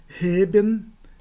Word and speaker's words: heben: E se eu digo e, isso é um adjetivo que significa plano. Pode ser também uma partícula significando justamente, mas de todo modo heben e eben é uma diferença não apenas de sons, mas também do significado das palavras, assim como ocorre na língua grega.